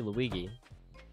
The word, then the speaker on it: Luigi: just like spawn in anywhere how do you pronounce Luigi Luigi that's the correct pronunciation what does my sister